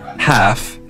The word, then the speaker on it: half: other English words that have a silent letter L in them. Words like... Half, H-A-L-F, half, or calf, C-A-L-F.Calf